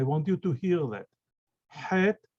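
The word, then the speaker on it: ח: This letter does not, this Het does not exist in English. It's a strong H.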